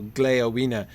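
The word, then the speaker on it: Gléowine: would be pronounced wina with stress on the first syllable and the final the terminal e uh a lesser syllable so gleovina it would be four syllables his name um anyway gleona stares at you with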